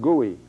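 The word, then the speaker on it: Goei: Now there's another one here, another abortionist from Los Angeles, Gordon, G-O-E-I, pronounced Gooey, who is now had a 3-year probation period for another one.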